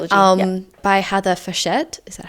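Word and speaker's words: Fawcett: Oh, I always say Heather Faucet. I see I've heard somebody say Heather Fchette and I'm not sure if that's an Australian pronunciation. That's completely wrong.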